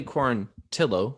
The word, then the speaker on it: Quarantillo: quarantil pass it on to zach so billy corontillo as it's pronounced okay tillo my girlfriend's name is last